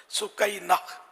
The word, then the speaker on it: سکینہ: بہت مشہور ہے سکینہ، تو یہ ہے اس کا اصل تلفظ سکینہ۔ سکینہ لفظ بھی اچھا